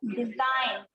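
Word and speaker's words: design: जैसे देखो डिजाइन, है ना, डिजाइन में देखो SIGN, है ना, तो जी जो है वो आपका साइलेंट है।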